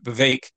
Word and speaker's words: Vivek: I think that VEC Vivek so it's pronounced apparently that it rhymes with cake is how I yes